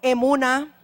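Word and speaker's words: אמונה: en griego, y sabe cuál es en hebreo, emuná. Emuná quiere decir fe en hebreo y pistis en griego. Sí, se escribe E-M-U-N-A-H, Escuela Ministerio Un Nuevo Amanecer de Honduras.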